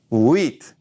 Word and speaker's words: huit: She said, huit. And she said, it's wheat, Daddy. And so I realized then that she had only learned the pattern of sounds rather than the number 8 is huit.